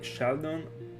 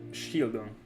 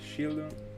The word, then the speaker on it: Shieldon: unfortunate by the way Sheldon shieldon let me start and pronounce it correctly shieldon it will take me